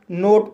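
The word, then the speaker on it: note: और रोप मींस रस्सी एन को ना पढ़ा जाएगा ओ को ओ पढ़ा जाएगा टी को टा पढ़ा जाएगा और ई साइलेंट रहेगा इस तरह से इसे नोट पढ़ा जाएगा और नोट मी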